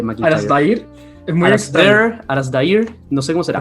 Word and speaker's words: Alasdair: Alasdair, no sé cómo será. En realidad, depende si lo pronuncia un americano, un británico o un escocés, pero dejémoslo en Alistair.